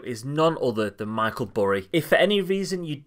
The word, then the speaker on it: Burry: none other than michael bury if for any reason you don't know this guy who's surname rhymes with your favorite dessert at mcdonald's then he was actually